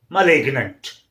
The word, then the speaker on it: malignant: And one more word is there, M-A-L-I-G-N-A-N-T. Again, M-A-L-I-G, one syllable, N-A-N-T, other syllable. So two different syllables it is forming. So that's why G is not silent, it is kept pronounced. So it is malignant.